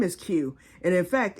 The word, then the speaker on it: Cue: Duh, and my name is Q. And in fact, it's spelled C-U-E for Q, as in a pool cue, but I'm naming it the Q module, which would be Q-U-E.